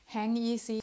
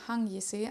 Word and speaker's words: Hangisi: I did some research online, and I think most people use this English way of saying it. They say Hangisi. For some reason, I think a lot of people don't know how to say it correctly. I found interviews by Manolo Blahnik where he said that this term is actually Turkish. Then you would say Hangisi, I hope I said